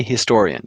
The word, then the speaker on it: historian: can't sing it a historian yes because the H here is not silent right it's not it an honorable historian but a historian you can't sing it